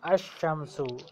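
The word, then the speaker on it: الشمس: कमरुन अल कम अल कमरु बिनतुन अल बिनतु अजुनुन अजुनु अजुनुन अजुनु किताबुन अल किताबु शम्सु अल शम्सु अशम्सु, ये जो हरूफ शम्सिया इनमें अशम्सु लाम साइलेंट है।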